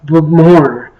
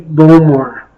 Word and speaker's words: Bowmore: I know it's pronounced Bowmore, but I'll just say Bowmore.